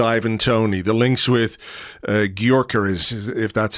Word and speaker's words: Gyökeres: the links with Ivan Toney, the links with Gyökeres, if that's how you pronounce his name. I really should have learned how to pronounce his name by now. Gyökeres, I think. Gyökeres.